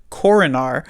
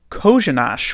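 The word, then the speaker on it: Kořenář: You would see this name and you would think, okay, this reads like Coronar, but is in fact pronounced, if Randy Hahn is to be believed, Kozhinash, which I thought was interesting, certainly.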